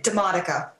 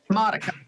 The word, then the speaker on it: DiModica: DiModica. DiModica. No R, or if there is, you don't pronounce it. Okay. So, please tell us a bit about yourself. My name is DiModica.